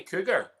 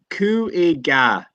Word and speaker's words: Cúige: Do you say cougar? So no, I don't think. No, it'd be like so. Cúige, like it'd be Cúige.